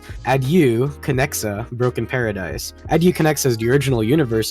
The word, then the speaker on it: Adieu Conexa: I was honestly thinking of shortening it, but as of now, if you want to pronounce the whole game's name, it's Adu Kexa Broken Paradise.